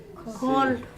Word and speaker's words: colle: Colle. Et- Colle. La comme ça. colle. Oui, c'est la Colle. colle. Et le son? Colle. Colle. Colle. Donc là, la lettre C, on la prononce K.